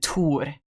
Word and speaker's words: Thor: Because regardless of if it has an H or not, we still pronounce it Tor, which doesn't have the th sound.